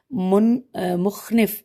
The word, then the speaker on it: مخنف: کیا ہے، امام علیہ السلام نے یہ مکتوب مخنف میم خ نون ف مخنف بن سلیم الازدی، ہجے کر دیتے میم خ نون ف، اور